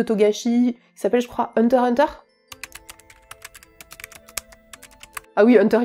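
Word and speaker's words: Hunter × Hunter: qui s'appelle je crois Hunter Hunter ah oui Hunter x Hunter nous on prononce pas le X enfin vous faites comme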